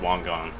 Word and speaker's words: Wangan: you want to pronounce i'm pretty sure it's supposed to be pronounced wong gong oh my god are